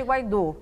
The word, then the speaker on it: Guaidó: Eu devo pronunciar Guaidó ou Guaidó? Bom, dizem que tem aquele acento, qual é a pronúncia correta? Lá eles chamam ele de Guaidó, né? Lá na Venezuela ele é Guaidó. Guaidó. Então, Guaidó. Tá, vou me esforçar para falar o Guaidó.